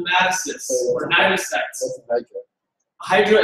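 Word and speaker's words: cnidocyte: So, what are those nidocytes? What do they do? What do nidocytes do? Yeah. What does it mean? What is a nidocyte? The CN, the C is silent.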